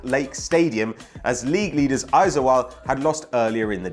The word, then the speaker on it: Aizawl: But the mood was jubilant between both sets of fans at the Salt Lake Stadium as league leaders Aizawl had lost earlier in the day, leaving both teams an opening to steal in on first place.